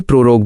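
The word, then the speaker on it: prorogue: Pronunciation guide, उच्चारण निर्देश। 1. समन, स्मन, इसे समन बोलें। 2. प्रोरोग, इसे प्रोरोग बोलें।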